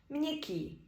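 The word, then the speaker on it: měkký: для нас для українців якщо є гачкова не стоїть після м відбувається нотація читається це як мн приклади мнесіц місяць мсто місто мнякі м'який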